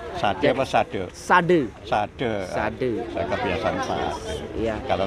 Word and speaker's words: Sade: Sade. Saya kebiasaan Pak. Ya. Kalau Sade bahasa Jawa itu jual. Okay. Kalau Sade di sini artinya obat atau obat, kesadaran. Ya. Sade ya, Pak. Sade bacanya. Sade, ya. Jadi Desa Adat Sade adalah tempat tinggal suku Sasak.